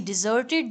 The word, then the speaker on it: desert: के तुली समथिंग ओर समवन आगे देखें ही डिजर्टेड प्लेस उसने उस जगह को छोड़ दिया बटन